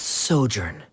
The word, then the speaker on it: sojourn: foreign clear uh director's osimos how do you pronounce this word let me see Ah that's sojourn it means to stay for a while this